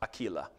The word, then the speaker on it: Aquila: check this out greet prissa and aquila would have been pronounced aquila my fellow workers in